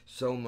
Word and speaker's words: Soma: a drug this is soma rhymes with coma you're on a speed